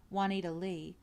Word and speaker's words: Wanita Lee: I mean she was an actress and used her stage name, Wanita Lee, pronounced like it was spelled plain Lee, but she was mostly called Nita Lee.